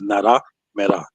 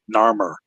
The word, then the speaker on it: Narmer: but I do remember how they pronounce it is Naramera, right? And that sounds much more African to me than Narmer, because that's a white man's way of saying an African name.